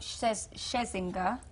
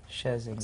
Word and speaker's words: Scherzinger: Tonight we've got, I kept saying her name wrong and that's really bad, Nicole Scherzinger. Scherzinger, so, the one from the Pussycat Dolls.